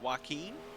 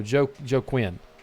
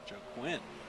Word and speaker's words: Joe Quinn: Is it Joaquin? What now? Is that how you say it, or is it Joaquin? No, Joe Quinn. Joe Quinn. Yep, Joe Quinn.